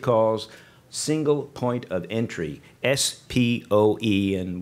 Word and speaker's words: SPOE: The FDIC has suggested that it would do this through a process it calls Single Point of Entry, SPOE, and which I will pronounce as SPO.